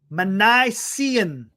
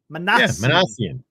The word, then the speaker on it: Minasian: It's Minasian. Arthur, trust me. I was on Google listening to pronunciations. It's Minasian. Minasian.